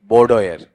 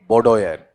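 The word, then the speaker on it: boudoir: बी ओ यू डी ए या ओ ओ आई आर बताओ क्या होता है आपका बोडोयर क्या बोलेंगे बोडोयर ठीक है फिर बोलो देखें क्या है आपका बोडोयर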